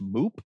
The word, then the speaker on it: MOOP: levels of operator protection referred to as moop or pronounced moop and that's means of